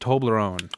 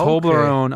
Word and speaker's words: Toblerone: And I believe it's pronounced Toblerone.